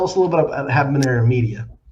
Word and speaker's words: Habanero: So tell us a little bit about Habanero Media. Well, first off, the H is silent.